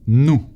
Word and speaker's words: nous: or more casual and nu without pronouncing the s at the end no or u sounds like double o in english ensemble no no